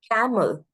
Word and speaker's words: camel: on the second syllable camel right caml camel but C is spoken for a longer period of time therefore it will take the stress approve approve approve a